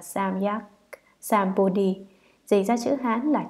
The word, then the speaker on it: Samyak Sambodhi: Chữ Tam Miệu Tam Bồ Đề, nguyên âm Ấn Độ, đọc là Samyak Sambodhi, dịch ra chữ Hán là chính đẳng chánh giác, nghĩa là giác ngộ bình đẳng chân chính hoàn toàn.